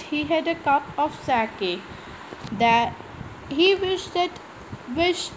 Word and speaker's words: sake: So Taro's father was telling that he want a cup of sake. Sake means a popular Japanese drink. Sa is pronounced like fa in father, and k rhymes with way.